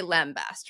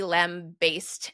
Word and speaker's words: lambast: Because Yeah, you say lambast, right? I also absolutely. And I've never heard it pronounced otherwise. apparently it was originally lamb-based, and some people do still pronounce it that way.